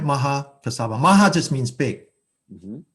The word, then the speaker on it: Mahakassapa: And so Mahakassapa is the most senior. Did I pronounce that right, Josh? That sounds right. Okay, all right, Mahakassapa.